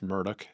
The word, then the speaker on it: Murdaugh: It looks like Murdaugh, but it's Murdoch.